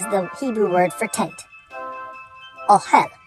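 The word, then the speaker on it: אהל: final word is the Hebrew word for tent ohel ohel that is spelled Olive hey lamid all right folks we're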